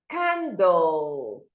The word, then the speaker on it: candle: So the end sound here is low and it needs to be heard. But when you say candle, you are not observing the sound of the letter L.